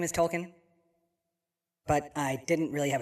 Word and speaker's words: Token: to my name plus everybody overly pronounces it as Tolen and honestly coming from